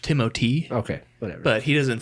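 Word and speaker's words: Timothée: I wasn't you know it's actually pronounced timoty okay whatever but he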